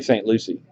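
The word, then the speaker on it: St. Lucie: sale but thinking it's is that St Lucia or St Lucy anybody know well St Lucia is down there in Caribbean St Lucy all right well I have been saying it right then the the other day I want say I want it to right one Florida so it must be St Lucy so this is St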